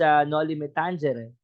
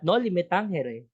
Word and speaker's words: Noli me tangere: naman na siguro ano hindi siya Tangere it's no liim Tangere kasi nga kung babasahin natin yan in Latin the proper pronunciation for the Noli is not no metanghere dahil pero yun naman